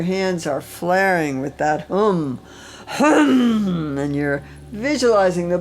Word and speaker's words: hum: Hum, hum.